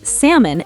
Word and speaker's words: salmon: Yeah, words like calm, palm, salmon, the L is silent.